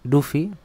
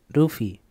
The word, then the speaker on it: Luffy: Yo he dicho Luffy, pero transcrito se escribe Luffy. En japonés hay una fila en los silabarios para la consonante R, pero no para la consonante L. La pronunciación de esa R es un poco especial. Ese sonido se representa con este fonema llamado vibrante simple lateral alveolar.